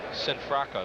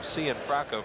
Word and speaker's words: Cianfrocco: Sinfracco. They told us that's the way you pronounce his name. Or it's a household name. Yeah. Archie Sinfracco. We were calling him Cianfrocco for the last couple years. And he wants to be called Sinfracco, so he's got it.